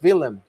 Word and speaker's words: Willem: I used to think Willem, but it's Willem. Willem, yes, Willem, yes. because Netherlands pronunciation has to be a little. I gotta get used to the W's here.